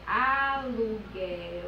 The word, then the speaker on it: aluguel: eu só serão dígrafos quando a letra u não for pronunciada como nas palavras aluguel e querido aluguel oi querido e aí eu percebo que quando a gente vai para anunciar a palavra aluguel é como se unam